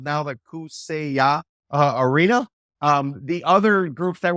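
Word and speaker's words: Kaseya: It's spelled Kasea, but it's pronounced Kusea. So our arena is now going to be called Kusea in downtown Miami.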